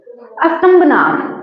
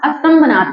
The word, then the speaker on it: अस्तंभनाथ: अस्तंभनाथ, ठीक है। क्या नाम था? अस्तंभनाथ। कल की साइड मैंने थोड़ा सा प्रोनाउंसिएशन गलत कर दिया था उसका, है ना। लिखा मैंने ठीक था, प्रोनाउंसिएशन थोड़ा गलत हो गया था।